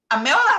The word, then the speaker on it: Meryl: Meryl got 2 syllables and rhymed with pill, not pearl.